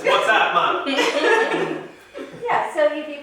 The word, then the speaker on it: WhatsApp: Like my mom, she was mispronouncing. What's WhatsApp? It's WhatsApp, man.